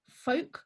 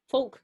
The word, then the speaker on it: Fulke: So the first one is Sir Folk Greville. It's spelt Fulke. So I would go with folk.